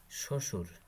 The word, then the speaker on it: শ্বশুর: শব্দের আদিতে ব ফলার উচ্চারণ হয় না, যেমন ত্বক, শ্বশুর, স্বাধীন।